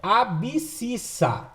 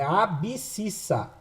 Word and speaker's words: abscissa: fala errado por querer o correto de falar é abscissa e agora fala errado a ó a x ABC ficha faz lembrar x riso se fala errado por querer mas na hora de escrever se escreve certo é abscissa com B mudo abscissa e o y é